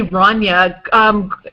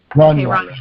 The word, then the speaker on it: Rania: I say Rania. I could be saying it wrong. Greg, how do you pronounce her name? Yeah, that's right. You're saying it right. Okay. Rania.